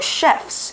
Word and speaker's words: chef: 在节目中呢，2队的小厨师要完成食物挑战来得分。Tiffany 老师提到呢，cook 跟 chef 一样都可以指厨师，但是 chef 特别指的是大厨、主厨。同学们要小心这个字的发音哦，念作 chef。而且呢，复数直接在字尾加上 s 就可以了，念作 chefs，不用像其他 f 或是 fe 结尾的字，必须要去掉 f 或 fe 加上 ves。这类的字有什么呢？比如说一只野狼 one wolf，那复数我们要把 f 去掉，变成 wolves。还有像 knife 刀子，复数的话呢，要把 fe 去掉，变成 knives。